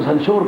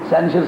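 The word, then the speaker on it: censure: سینشر ہو سکتی ہے، جس کو سنشور کہتے ہو نا، سینشر صحیح تلفظ ہے، سینشر اس میں ہو سکتی ہے، کوئی پنشمنٹ ہو کے واپس ہو سکتا ہے.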